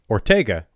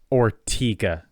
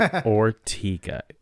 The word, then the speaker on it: Ortega: because of the singer I would say Ortega like Fernando or but nope it's ortiga everybody calls it ortiga I go to ortiga Presbyterian church and it